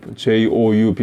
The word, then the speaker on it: Job: 근데 발음을 쫙, 쫙이라고 안 하고 조웁, Joub 이렇게 발음을 합니다.